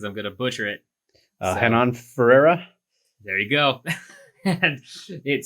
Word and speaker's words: Renan Ferreira: Renan Ferreira.